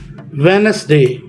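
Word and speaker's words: Wednesday: चीजों से आपको समझाऊ इट वाज वेनसडे वेड नस डे नहीं पड़ेंगे डी इसका साइलेंट हो जाएगा मैंने ऊपर लिख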